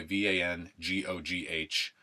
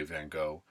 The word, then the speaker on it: van Gogh: Gogh by the way VA n GOG H we say van Gogh it's actually pronounced van Gogh is how you